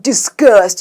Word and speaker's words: disgust: 이거 발음할 때 약간 disgust 이렇게 하면 좋아요.